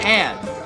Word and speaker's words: add: 아래 TR 당기다 subtract 빼다 subtract subtract Don't add just subtract Don't add just subtract 더하지 마세요